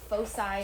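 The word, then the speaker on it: foci: Your fosi, which that's how you pronounce that fosai.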